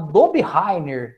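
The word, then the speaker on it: Döbereiner: 1829 um professor chamado do bi heier é assim que a gente pronuncia tá foi o primeiro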